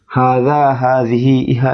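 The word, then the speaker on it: هذه: ফেলে তা আপনি এভাবে ভালোভাবে মুখস্ত করে নিবেন হাজিহা এটি জালিকা তিলকা উভ সেটি এবং উচ্চারণটা আরেকবার বলে দিচ্ছি হাজিহি ইহা এটি জালিকা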